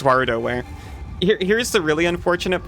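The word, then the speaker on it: WarioWare: So, not Wario wear. Unfortunately, not. It's Waroware.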